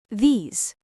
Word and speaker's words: these: These these t h e s e. Please be careful with the pronunciation here. It is a long sound.